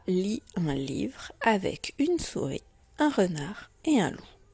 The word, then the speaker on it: souris: Alors le mot une mot de la tortue est souris, deux syllabes, sou et ri, et je n'oublie pas le S muet à la fin.